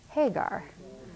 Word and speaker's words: Hajar: And in Oman, the tribes that live in the mountains pronounce the J as a G. Hagar.